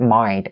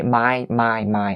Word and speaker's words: mind: For any Vietnamese people that are watching this video, the word mind, like I said in some of the previous pronunciation teaching videos before, the word mind, the N sound, I know that in Vietnamese we don't really do this. We say my, like the flower, right?